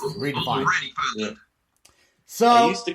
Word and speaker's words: REDEFIND: Dustin, you can go on Redefined, and the way Redefined is spelled, it's REDEFIND. There's no E. There's no E in the middle of the N and the D. It's just Redefined.